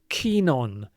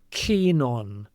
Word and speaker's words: keen on: And the next item of vocabulary is keen on. Kenon. Notice how they go together. They're connected. Keen on. It sounds almost like one word.